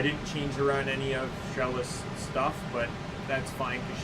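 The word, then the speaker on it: Xelha: It goes to Sheila. I keep saying Sheila, it's Shella. I'm pronouncing her name wrong.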